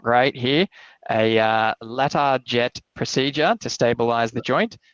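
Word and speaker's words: Latarjet: Yeah, that's correct pronunciation. A ladder jet procedure is from it's a French technique that was refined in France and has gone around the world.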